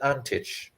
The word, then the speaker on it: Antic: man's father is yugoslavian it's spelled a n t i c but i'm going to pronounce it antich because i i think that's the correct correct yugoslavian pronunciation it seems we may